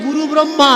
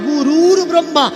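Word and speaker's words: গুরুর্ব্রহ্মা: কি বলি অনেকে বলেন গুরু ব্রহ্মা না ভাই ব্রহ্মা কখনো গুরু নয় ব্রহ্মা গুরু ব্রহ্মা কাকে দীক্ষা দিয়েছেন যে ব্রহ্মা গুরু গুরুর ব্রহ্মা গুরু ব্রহ্মা নয় গুরুর ব্রহ্মা আগে সঠিক উচ্চারণটা জানতে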